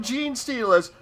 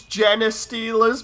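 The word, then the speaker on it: genestealer: were turning around saying, it's not gene stealers. What the heck are jeans? Why would you steal those? Like pants or whatever. It's Jenna stealers because of how it's spelled, you know, so G-E-N-E. They were pronouncing it as Jenna stealers. And I'm like, what are you guys on? That makes no sense. It's genes for, like, DNA genes, and they're all there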